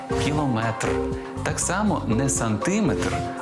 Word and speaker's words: кілометр: кілометр чи кілометр запам'ятайте у цьому слові наголос падає на останній склад кілометр так само не сантиметр